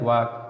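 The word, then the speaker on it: walk: देखिए ए और ओ यू इन दोनों के बाद यल आएगा तो साइलेंट रहेगा। एग्जाम्पल टॉक, देखिए ए के बाद यल आया, वाक, कॉम, कॉप।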